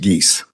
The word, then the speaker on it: Gies: People versus Gies, 26T884. And if I may correct the court, the last name is pronounced Gies. Gies, sorry about that. As in Canada Geese.